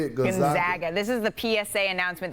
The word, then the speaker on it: Gonzaga: Gonzaga. This is the PSA announcement that we need to do every March. It is Gonzaga, not Gonzaga. They are the Zags, not the Zogs, and that is how we pronounce it.